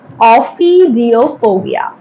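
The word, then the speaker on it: ophidiophobia: Offidophobia. Yes, this is the correct pronunciation.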